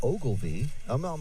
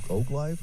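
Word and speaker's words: Oglive: It's O G L I V E. It's not Oglev. It might just be misspelled, but if it's it is cor spelled correctly, then O Oak live oak.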